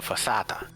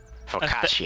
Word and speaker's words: focaccia: The crust is light and similar to a fossata. I completely mispronounced that. Focaccia? Focaccia. I think, yes. based on your mispronunciation, I believe you were trying to say focaccia.